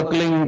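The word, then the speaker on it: क्लीं: की मात्रा और बिंदी, उसका उच्चारण होगा क्लिंग गा। गा की ध्वनि निकलेगी पीछे।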